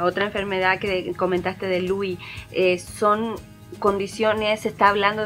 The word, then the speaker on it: Lewy: Este Lewy se deletrea L-E-W-Y, una palabra es del inglés, que por lo cual se pronuncia así.